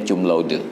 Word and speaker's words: cum laude: mereka tidak baca C dengan bunyi K, tetap C itu dibaca C. Maka yang wisuda yudisiumnya cum laude itu bukan cum laude, cum laude. Karena itu bukan bahasa Inggris yang C dibaca K, tetap bacanya cum laude.